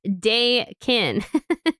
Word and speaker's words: Dakin: I didn't know how to pronounce this, so I had to write pronounced Dakin or bacon with a D.